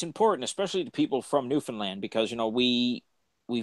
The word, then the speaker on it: Newfoundland: we call it we it sounds like new finland but it's just the way we pronounce it it is newfoundland and for anyone who has money to travel here we are great except for st.